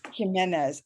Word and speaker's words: Jimenez: correctly close enough it's okay what's the proper pronunciation jimenez and i'm hispanic like i should be able